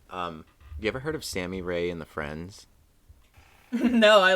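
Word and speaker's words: Sammy Rae: listen to them um sammy ray and the friends so that's s-a-m-m-y sammy ray and the friends and then rey is spelled r-a-e and then it's just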